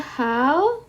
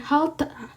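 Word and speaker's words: 핥다: Kita bacanya adalah halda. Oke. Jadi bacanya adalah halda. Oke. Kita bacanya halda. Bukan halta. Oke. E-nya ini tidak kita baca.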